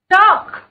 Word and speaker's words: chalk: Chalk. Chalk. Chalk. L, L, L.